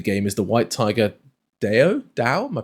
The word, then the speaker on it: Dao: And then perhaps the standout dueling weapon in the game is the White Tiger Dao? Am I pronouncing it? Dao.